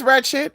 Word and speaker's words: wretched: It's wretched. It's not ratchet. It's wretched. Yeah. Yeah, it's wretched. Not ratchet.